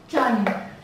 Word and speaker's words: Trần: Nguyễn, Nguyễn, Nguyễn, Nguyễn, Nguyễn, and Trần.